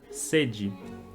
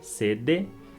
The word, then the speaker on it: sede: Um outro exemplo é com a palavra sede. Então a gente escreve D-E, sede, mas a gente pronuncia sede.